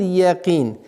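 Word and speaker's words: الْيَقِين: Каф твердый звук, но так как с огласовкой кесра, она переходит в мягкость якин.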